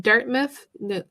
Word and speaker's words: Dartmouth: In Dartmouth, I'm not sure how to say it.